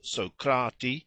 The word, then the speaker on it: Socrates: it is true that the names were pronounced socrati aspari that is according to accent and not according to quantity but I suppose it